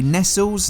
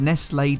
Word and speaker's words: Nestlé: This wore a Nestles, now pronounced Nestlé, decal.